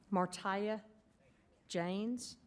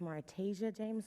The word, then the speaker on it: Martasia James: Martia James, followed by Mrs. James. Just for record purposes, it's pronounced Martasia James, so if you could start my time over, please, I would appreciate it.